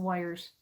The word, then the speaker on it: Weyr: But then I had to repeat some of the colors because there was lots of wires. And a wire is where a dragon sleeps. That's spelled Weyrs.